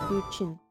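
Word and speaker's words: Guqin: Oh, okay, that's how you pronounce it. Guchin, my bad.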